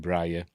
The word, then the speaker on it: Breyer: I always thought I'd have pronounced it Breyer, but in the film they pronounce it Breyer.